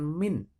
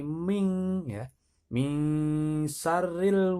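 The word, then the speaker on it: من شر: kurang tepat ya banyak bukan mint membacanya bukan mint tapi ming-ming syarril waswasil khannas Ya silahkan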